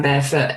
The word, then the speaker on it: Bearfwt: I mean, if you just type in Bearfoot in Google, and my last name is spelled Bearfwt, you will find me.